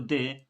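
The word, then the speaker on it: the: और दे आर्टिकल है ही है, जिसको दे और दी प्रोनाउंस किया जाता है, ठीक है ना।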